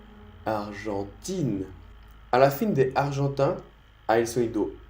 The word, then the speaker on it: argentin: Aquí la G se pronuncia J, J. Mira mi lengua. J. Mi lengua la pego arriba de mi boca. J, J, J. Argentin, argentin.